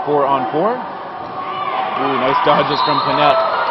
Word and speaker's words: Panette: Ooh, nice dodges from Panette. Panette, whose name looks like Panay to many of my Canadian friends back home, but Mackenzie herself did confirm that it is pronounced Panette.